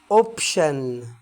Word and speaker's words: option: option، option يعني اختيار. ولاحظ هنا ان انا ما جبتش سيره التي، ما اتنطقتش، لان هما زي ما قلت لك هما مجموعه مع بعض بتنطق شن.